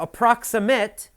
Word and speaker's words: approximate: the first page now approximate is an adjective and you have to listen carefully the pronunciation is different for the verb and the adjective as an adjective you say approximate the approximate price is